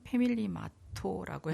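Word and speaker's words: ファミリーマート: 그런데 그때 제가 편의점을 이제 일본 발음으로 하면 패밀리마토라고 해요.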